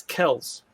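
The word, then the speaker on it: Kelce: and they actually asked him how do you pronounce his last name and he said it's kells travis kell travis kills that's how you say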